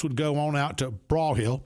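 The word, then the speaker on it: Broyhill: And then you'd go, the reps would go on out to Braw Hill, pronouncing that correctly, not Broy Hill, Braw Hill, and out to, what's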